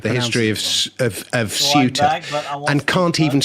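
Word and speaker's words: Ceuta: history of of of SU and can't even spell it. He spelled it cue EA and calls it quait where you know there is no such place.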